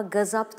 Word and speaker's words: gazap: derken uzar ikinci hece ama gazap da uzama olmaz gazabı tanrının gazabına uğradı mesela